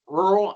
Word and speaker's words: rural: We like to use a 1.5 syllable count as you pronounce it. So you want to be somewhere in between rural and rural. So if you can hit that 1.5 syllable, you're doing it right.